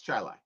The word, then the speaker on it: Chili: By the way, Chilai is spelled chili, but it's Chilai.